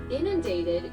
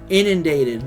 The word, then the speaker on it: inundated: Inundated is spelled I Alexa, stop. Inundated.